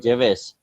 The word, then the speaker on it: Gervais: It's Ricky Gervais. You know, Ricky Gervais. It's also a British actor. So it's also starting from G, his surname, but still we pronounce Gervais, Ricky Gervais.